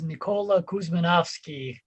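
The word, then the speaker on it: Nikola Kuzmanovski: can hear it so the true name is nikola kuzminovsky uh macedonian but american version is dr nikuz that's dope dr nick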